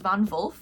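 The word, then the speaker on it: von Wolf: her last name is Vonvul, but it's spelled W O LF, but the W is pronounced as V, which is German.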